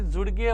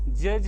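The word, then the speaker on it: judge: काही विद्यार्थ्यांना यांचे तर मी जर जे यु डी जे यु डी जी ई लिहिली तर त्याला ते जुडगे वाचते जुडगे म्हणते ते जुडगे जुडगे नाही रे बाप्पा हे का आहे जज आहे हे जज काय आहे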